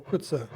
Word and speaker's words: Coetzee: I'm not sure if it's Coetzee or Coetzee. It's a Coetzee. Coetzee, alright. Yeah, the Afrikaans pronunciation is Coetzee.